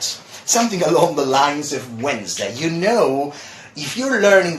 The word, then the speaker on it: Wednesday: sometimes you know finding hard and difficult to pronounce as one it's actually Wednesday just Wednesday obviously also you know the days